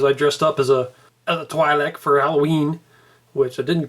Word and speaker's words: Twi'lek: Wars, and saw that they actually pronounce it twi'lek. I always pronounce it twi'lek, but it's twi'lek apparently, so the rest of